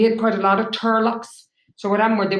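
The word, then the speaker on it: turlough: So it's pronounced Turlock, and Turlock.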